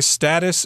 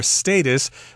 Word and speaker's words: status: my return request okay status or status you can pronounce that either way that just refers to